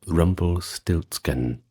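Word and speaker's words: Rumpelstiltskin: Well, then we have Rumble Stiltskin, which is pronounced pretty much the same in German.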